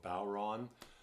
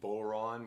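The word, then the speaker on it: bodhrán: So Ron, take a bow, so Bodhran. Other folks you might hear say Bodhran, which rhymes with moron, which can sometimes be a reflection on the player, but I won't take that personally.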